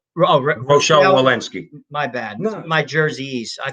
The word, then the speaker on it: Rochelle: a mask or physical distancing cdc director dr rachel malinsky says rochelle my bad my jerseys i pronounce things like my father which is jackass